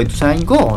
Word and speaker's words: Ituzaingó: Ituzaingó. Ituzaingó. Tiene el acento en la O en todos los lugares del mundo. ¿Por qué le pone? ¿Por qué le dicen Ituzaingó? Me acompañó ese Ituzaingó. No, pelotudo, Ituzaingó.